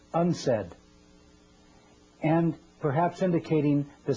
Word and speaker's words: UNCED: Nations committee for environment and development it is pronounced unsaid and perhaps in indicating the secret agenda of